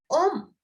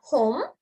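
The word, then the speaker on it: homme: Look, here it's om. Om. It's not home. It's om. And it's not her. It's This H is silent.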